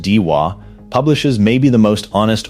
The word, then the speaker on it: Daiwa: Daiwa, pronounced Deewa, publishes maybe the most honest origin statement in the category.